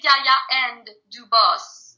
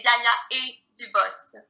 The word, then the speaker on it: Gaia & Dubos: You can say Gaia and Dubos, Okay. but since it's in French, so I say Gaia et Dubos.